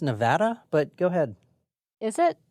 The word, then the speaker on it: Nevada: Nevada this evening uh it's pronounced Nevada but go ahead is